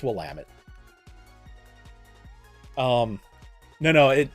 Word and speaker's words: Willamette: anyone to know how to say it it's Willamette um no no it like we've got so